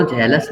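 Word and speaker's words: jealous: कह रहे थे, वो जेलस नहीं है? हाँ, जेलस तो है, सर JEL, वही बोल रहे हो ना आप? हाँ, जेलस भी बोल सकते हो, जीलस भी बोल सकते हो, नो प्रॉब्लम।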